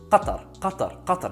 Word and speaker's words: Qatar: If you're going to call it Qatar or Qatar, call it Qatar. Qatar is the proper way with a qaf, ta, ra.